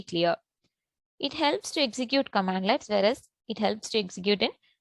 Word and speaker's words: cmdlet: Developers and DevOps and IT professionals can execute commands called commandlets or pronounced as commandlets, that is CMDlets.